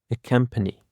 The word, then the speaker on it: accompany: Accompany. Accompany actually consists of 3 syllables, and the stress is on the first syllable.